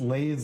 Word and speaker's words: Leet: Oh, because the name's pronounced Lay's like for the potato chips.